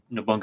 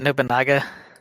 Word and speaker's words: Nobunaga: with Shogun, the Archer, and the Explosion Master, Nobunga Oda. Oda Nobunga. Sorry. Gotta say his name right. Isn't it Nobunaga?